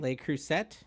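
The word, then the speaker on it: Le Creuset: say the French cast iron brand they they cruset is that it l cruset yeah oh I crush on that I say l crus so it's l cruset yeah L cruset okay I got to remember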